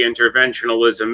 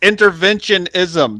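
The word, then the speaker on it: interventionism: keep mispronouncing it what it's intervention ISM there's no l in it I I like I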